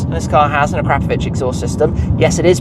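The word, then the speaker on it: Akrapovič: And this car has an Akrapovic exhaust system. Yes, it is pronounced Akrapovic, it's not Akrapovic, as I think some people often try and say, it's Akrapovic.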